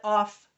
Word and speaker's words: of: This first letter doesn't sound like an O, it sounds like a. That's a schwa. I don't have the definition of schwa here, but we will run across it again. It's when one vowel sounds like another. And this is not pronounced f, it's pronounced v.